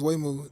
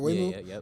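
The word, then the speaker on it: Waymo: Me personally, I think I think those Wayu, that's how you pronounce it. Wayu.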